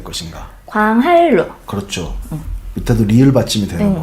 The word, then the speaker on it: 광한루: 니은하고 리을이 만났을 때 니은이 리을로 발음난다.